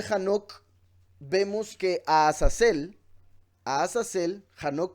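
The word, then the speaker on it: חנוך: En el libro de Hanoc vemos que a Azazel, Hanoc por si algo es la pronunciación de Enoch, a Azazel lo culpan por todo el pecado de la humanidad.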